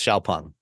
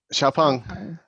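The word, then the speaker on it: XPeng: at all spelling wise I had no idea how to pronounce the name of this to it's spelled XP n g but it's it's Shia pong xia pong um so what do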